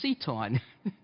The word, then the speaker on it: CTAUN: That's how you pronounce CTAUN, is CTAUN.